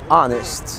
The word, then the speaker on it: honest: الاتش في الانجليش بتبقى سايلنت في honest، honor، hour، herb، زي herbal tea، وده في الامريكان انجليش يعني عيش بالاعشاب، herbal herbal tea.